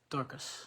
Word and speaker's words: Dorcas: Is it Dorcas? How do you say that? Dorcas.